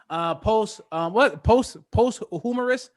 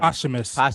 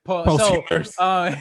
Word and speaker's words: posthumous: Post humorous. Is that how you say it? I can't remember. Posthumous. Oh, okay. Yeah. Posthumous.